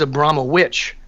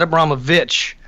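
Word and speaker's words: Abramović: which I think is funny that she her act the actual pronunciation of her name is Abramhma witch not a Brahma Vich but witch and that's she said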